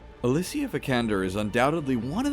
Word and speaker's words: Alicia: For instance, did you know her name was pronounced Alicia, not Alicia? You've been saying it wrong all these years.